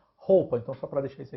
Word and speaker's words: Hoppe: A palavra Hoppe em alemão pronuncia-se com esse som agudo, como se fosse roupa, né? Só que com acento agudo no A. Hoppe.